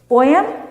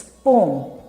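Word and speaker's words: poem: पोएम? नो, इट्स पोम। पोम।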